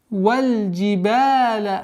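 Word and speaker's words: والجبال: Валь джибаля аутада. Валь. С огласовки фатха уходим на лам. Джибаля. Долгота в размере двух огласовок фатхи.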